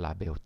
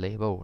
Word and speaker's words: label: ก็ เข้า ใจ ว่า หลาย ๆ ท่าน ชอบ เรียก ว่า label จน ติด ปาก แต่ จริง ๆ ก็ ต้อง ออก เสียง ว่า label นะ ครับ label นะ ครับ ยก